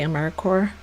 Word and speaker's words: AmeriCorps: The P and the S, if you notice when I say AmeriCorps, I don't pronounce the P and the S. You're not supposed to say AmeriCorps.